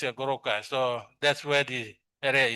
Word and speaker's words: Goroka: So when the uh Europeans come in the 1934 or something they try to pronounce the word uh they find it how to uh pronounce the retroflex but the goto stop. So they have this goroka.